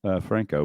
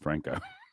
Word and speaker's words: Franco: What did y'all think about this interview with Franco, one of the founding members of the guild?